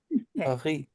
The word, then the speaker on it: Paris: And that, of course, is Paris. We didn't pronounce it right, though. Paris. Oui. No soup for you. P-A-R-E-E. Something like that.